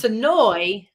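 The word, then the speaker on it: Senoia: are from sonoa georgia it's sonoy almost like there's two e's on the end instead of the ia so noise sonoy georgia all right is that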